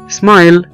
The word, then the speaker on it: smile: احنا ما بنقولش حرف الاي ولا ينطق في الكلمات الاتية, مثلا زي كلمة smile يبتسم smile smile, وزي كلمة drive او يقود drive, وزي كلمة slide او يتزحلق slide. في كل الكلمات دي احنا ما بننطقش حرف الاي اللي موجود في اخر الكلمة.